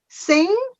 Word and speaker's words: sing: That G is a silent letter. It has to be there, but it is not pronounced.